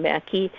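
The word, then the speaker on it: Maki: Society as well, and that's spelled M-A-K-I. It's the Finnish name Mackey.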